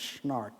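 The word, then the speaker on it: SNARC: networks academic research center the acronym is snark it's a little strange but narc yeah well that's how we pronounce it anyway but the center actually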